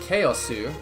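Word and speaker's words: カオス: So, the characters for chaos are pronounced chaosu, which means chaos.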